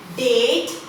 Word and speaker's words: date: Then date. When we put silent E over here, the sound of vowel that is there, it becomes A.